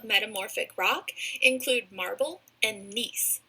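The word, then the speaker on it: gneiss: rock include marble and nice with a silent G last type of rock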